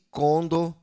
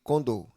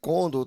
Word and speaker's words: condor: Eh, e conor tá aqui, tá sendo nessa primeira parte aqui, ela tá sendo uma palavra paroxítono, mas na verdade ela é uma palavra oxítona, que a sílaba tônica, né, é a sílaba mais forte é a sílaba do, a última sílaba da palavra, portanto, sendo aí uma palavra eh oxítono ao invés de paroxítona.